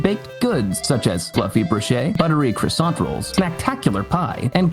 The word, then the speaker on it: brioche: Speaking of valuable, how did you pronounce brioche? Brioche? Brioche. Brioche. Broche.